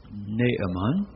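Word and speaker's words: Naaman: and I grew up we pronounced this man's name with two syllables you will see in your new and better translations it should have three syllables naamon naamon commander of the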